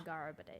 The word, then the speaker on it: Nyagarbha Day: Okay, Nyagarbha Day. The That's how you sages and pronounce core it.